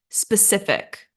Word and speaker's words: specific: and then finally we have specific specific and stress on second syllable great job you guys